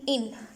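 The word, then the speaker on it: une: लब्ज आ जाता है इन यू एन ई इन अब अगर आप इसको इंग्लिश स्टाइल में देखें तो आप लोग का उने लिखा हुआ है उने हालांकि उने नहीं है इसका मतलब होता है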